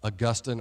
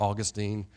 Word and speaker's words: Augustine: you probably have heard of Augustine or Augustine however you want to pronounce his name he's an